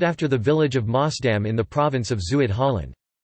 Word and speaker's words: Maasdam: Maasdam cheese, Dutch pronunciation, Maasdam, is a Swiss-style Dutch cheese.